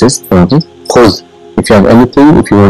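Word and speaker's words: خذ: What it is pronounced is khuz.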